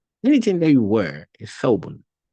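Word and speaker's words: ثوب: the back of the upper teeth, then you pronounce it. Tha, tha, tha. We have thawbun, thawbun.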